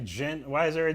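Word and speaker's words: Djent: specific specific tone man Tyler says the D is silent yeah I feel that jent is it that right jent why is there a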